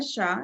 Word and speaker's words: Shah: my name is Shah as Kelly mentioned it's just the way it's spelled Shaw has the h the Asian Shaw H and not the W so um I have